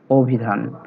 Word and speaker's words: অভিধান: তবে সে অ এর উচ্চারণ কি হবে? ও বা ওকারের মতো। শুরুতে আছে তাই ও এর মতো হয়েছে, অভিধান।